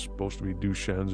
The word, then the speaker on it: Duchenne: me about it and I believe he was pronouncing it duchesne's but I look up the pronunciation and it's supposed to be duchennes it's spelled d-u-c-h-e-n-n-e and so we'll we'll provide